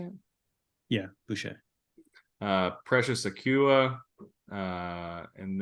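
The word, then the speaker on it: Boucher: Flynn Gary Trent Jr Jaylen McDaniels uh Chris bue is that how you say it yeah bue uh precious auua uh and then Grady dick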